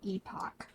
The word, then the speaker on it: epoch: Apparently epoch is the British pronunciation. Oh, epoch.